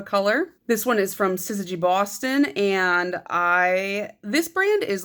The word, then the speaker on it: syzygy: don't know this word, it's pronounced syzygy. And the only reason I know that is because of the X-Files and also Googling it like 9 times because I forget a lot. Because for some reason I always want to pronounce it Sigsy. I don't know why. But yeah, I'm pretty sure it's syzygy.